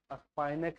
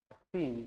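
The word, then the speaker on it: spinach: स्पाइनक है, स्पिन ना है। पालक लिख लो। स्पिन मतलब पालक होगा। स्पिन, प्रोनाउंसिएशन गलती किया, स्पाइनक पढ़ना। लिख लेना हिंदी में स्पाइनक, काम देगा बच्चों लोग को पढ़ाने में।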